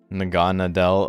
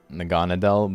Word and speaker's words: Naganadel: getting the last hit naganadel I mean that's the same way I'm saying it right naganadel but it's just where is the emphasis Naga Nadel naganadel it's just Naga and like needle is like the port Monto